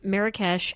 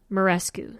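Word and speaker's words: Muraresku: 100 is their name s-k-o-o-l is how they spell it um they have this video with this guy named Brian Marrakech and uh uh Karen Armstrong Armstrong yeah and it's Brian morescu sorry so this guy Brian morescu and Karen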